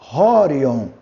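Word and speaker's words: ὅριον: Horion. Tá vendo? Mais uma vez o sinal aspirado para você já ter intimidade com esse formato. Para você identificar ele na palavrinha. Horion.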